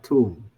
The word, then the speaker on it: tomb: Nah, ini bacanya itu adalah tomb. Jadi nggak ada B-nya, nggak dibaca. Jadi cuma baca 3 kata depan ini. Tiga huruf ini loh. B-nya tidak diucapkan. Jadi bacanya tomb.